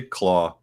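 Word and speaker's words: Klaue: yeah uh ulysses cloud i keep saying cloud they say claw um but it reads to me like clow i don't know yeah i mean it's pronounced claw cause of you know he's got the arm thing um first appeared in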